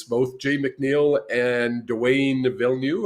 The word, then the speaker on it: Villeneuve: And they had both presidents, both Jay McNeil and Dwayne Villeneuve, I think is how you say his last name. Vino, yep.